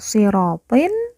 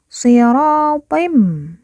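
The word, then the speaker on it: صِرَاطٍ: Bukan dibaca sirotin, tetapi dibaca sirotim.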